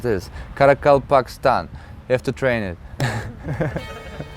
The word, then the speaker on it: Karakalpakstan: Karakalpakstan. Wow, first try. It's kind of a tongue twister to pronounce this. Karakalpakstan.